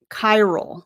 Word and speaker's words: Qyral: on the assessment and it goes right to Kyro is how you say the name of this